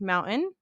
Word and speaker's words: mountain: So, I pronounce mountain as mountain. I have a glottle stop.